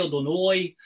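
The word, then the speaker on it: אֲדֹנָי: the Eloheinu Melech Hayolam, and they're pronouncing the Kamatz with an O on it, okay? So I always get a kick at it because Sephardic Jews don't say that. Sephardic Jews says Baruch Atah Adonai Eloheinu Melech Hayolam.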